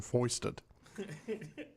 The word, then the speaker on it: foist: oh, I was going to say, I believe I used the term foisted. He was foisted upon you. Yes. Okay. So it's our word of the day, Pete. Foist. Foist? Rhymes with moist, It does.